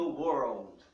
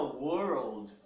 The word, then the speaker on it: world: esse R caipira aqui, que é o R mais difícil para nós pronunciarmos, né? Nós não temos esse R no português. A frase seria around the world. A palavra world, ela é muito difícil de ser pronunciada pelos brasileiros.